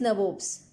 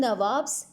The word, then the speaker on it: nabob: Children, nabobs is the anglicized version of nawab. Okay, anglicized version of nawab. As we know, the pronunciation or accent of Britisher was different from Indians. So instead of saying nawabs, they said nabobs.